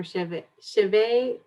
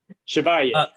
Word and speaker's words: Chevalier: Chaver. How do you say it? Chevalier. Chevalier. Chevalier. I got it.